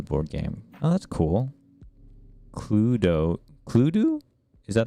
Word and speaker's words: Cluedo: on on another stream clue cluedo is how you say cludo okay cool pluto interesting